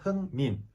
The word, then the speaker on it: 흥민: My name is 흥민. 흥. 으 sounds like put.